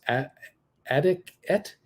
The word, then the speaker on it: Adicet: Your losers on NASDAQ today looks like a 47% loss for something called how do you pronounce this? Adicet, ADICET, Adic Bio Inc.